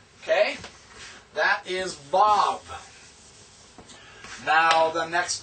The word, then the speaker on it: Vav: The next one is Vav. Now, this is the V. I have also seen it as W. That's technically the classical Hebrew way to pronounce it.